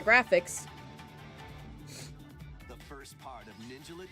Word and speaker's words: Ninjala: The first part of Ninjala 2 is sneaking onto Nintendo Switch 2.